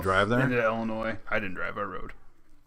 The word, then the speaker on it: Illinois: I will say illinois' Illinois the S is silent you jackasses Illinois I'm